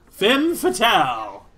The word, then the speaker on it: femme fatale: Femme fatale. How I've missed you. Or femme fatale. You pronounce it like tamale.